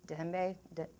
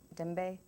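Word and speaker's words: djembe: is a miniature african it's spelled d-j-e-m-b-e but it's pronounced dembe dembe and the tribes would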